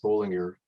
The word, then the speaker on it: Bolinger: german speaking switzerland and it was spelled with two elves at that time and pronounced bowling ear my cousin bruce tracked